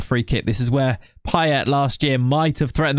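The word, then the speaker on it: Payet: to stand by it in England he was Demitri pet he wasn't PA even though obviously it should be Pa all right I'm going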